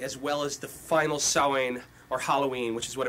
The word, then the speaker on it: Samhain: the Celtic holiday of Samhain. Samhain, most people would pronounce it. I believe it's actually Samhain, S-A-M-H-A-I-N.